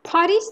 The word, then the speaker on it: Paris: Paris تلفظش نمی‌کنیم.